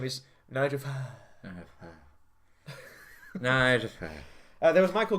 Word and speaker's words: Farage: It's Farage. It's Farage to rhyme with garage. We've been over this. It's Farage.